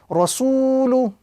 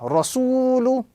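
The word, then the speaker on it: رَسُولُ: So this example will be correctly pronounced rasulu, with the prolongation on the second letter because of the waw madda, rasulu.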